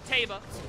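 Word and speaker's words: Teba: as i can sup it's taba except she pronounces it teva i might have been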